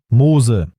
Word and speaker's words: MOSE: plus coûteux d'Europe : MOSE. Ce nom est une abréviation italienne, mais sa prononciation évoque Moïse. C'est symbolique.